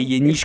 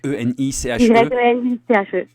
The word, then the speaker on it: Yeniche: Et Yeniche, comme ça se prononce, Yeniche. Y-E-N-I-C-H-E.